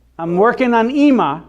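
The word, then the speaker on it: אמא: good so that's e and then we have another olive here but it is silent so what do I do I do nothing now it says II mom now can somebody read this for me what is that it's also EEMA it's like a Sarah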